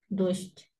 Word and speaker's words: дождь: Пишем дождь, произносим дождь.